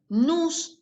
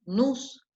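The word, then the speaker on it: νοῦς: Tejne, frónesis, PHF, frónesis, episteme, nous, la OU es U, nous, y otra vez PH, F, sofos. Tejne, frónesis, episteme, nous y sofos.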